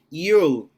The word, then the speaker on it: you'll: You'll. You. Lembra que é falar normal e colocar o L no final. Quando você fala I will, não é essa a pronúncia. You'll. You'll. You, You'll. Só o L.